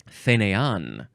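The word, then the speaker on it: fainéant: the left and up on the right whop fan it is a noun from 1619 it means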